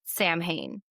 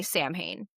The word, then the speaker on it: Samhain: We pronounce it Samhain, and it's spelled like Samhain. So if anybody's ever... Don't say we as if I say Samhain. Americans mostly say Samhain.